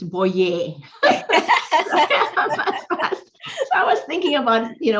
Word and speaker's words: Boyer: So he emphasizes Boyer, and this is spelled Boyer. So people are immediately say Boyer, and it's like, no, it's Boyer.